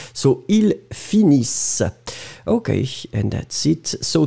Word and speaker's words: finissent: So the last one, finis, it will be with ENT as usual for the third person, but then you don't pronounce the ENT. So ils finissent.